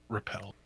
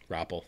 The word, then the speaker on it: Rappel: And their team is Stitch, Haskell, Xiao Minsu, Hureg, Bumper, Janu, Slime, Twilight, and Rappel. Repel. No, Rappel. Rappel.